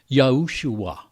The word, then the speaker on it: Yahushua: ways in the tanakh with an added vav at the end giving the name the pronunciation yahushua the second half of